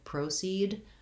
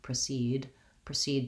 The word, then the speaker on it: proceed: I think most people don't actually pronounce that way because it's hard to do the O, the diphthong, the length, clear vowel on an unstressed syllable. So I think in most cases you'll hear proceed to the event rather than proceed to the event.